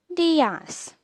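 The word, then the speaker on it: días: Whenever you see a tilde accent on any letter, you simply need to stress upon that letter. For example, there is a tilde accent on I on the word dias, which means you should speak it like dias.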